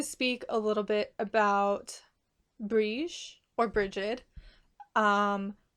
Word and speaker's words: Brighid: entails for me I've never really talked about brege in depth before um and I say bre brege is the Irish pronunciation of her name brege and I'll get to why why I say